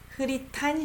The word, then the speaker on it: 흐릿한: 흐릿한, I pronounce it as T, 흐릿한 시야 속 너만 선명하게 그려져.